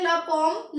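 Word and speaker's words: la pomme: आगे बताऊंगी मैं आपको तो ये हो गया लपम लपम को बोलते हैं हम एप्पल ठीक है उसके बाद ये हमारी प्रोनाउंस अगर हमें फॉम को याद रखना है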